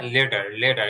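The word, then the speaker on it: letter: এখানে যে লেটারের মধ্যে যেই টিটা আছে, সেই টিটা আপনার ট এর মতন উচ্চারণ হবে না, ঠ এর মতন উচ্চারণ হবে না, এটা হালকা ড আর আমাদের যে ডয় বিন্দু র আছে, এই দুটার মাঝখানে লেটারের ইটা, লেটার লেটার একটু ড আর র এর দুইয়ের মাঝখানে হবে Leader.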